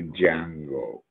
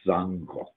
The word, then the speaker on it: Django: People say Django. That's not the way it's pronounced in Roman. It's Sango.